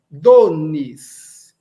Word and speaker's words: donis: No esperanto, nós nãoalizamos. Alberto, como é que eu faço para não naszalizar? Tem um n fácil. Vamos lá. Eu falo do, depois o nis, donis.